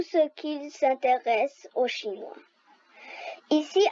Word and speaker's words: 一: 1 en chinois, ça prononce I, comme la lettre I en français.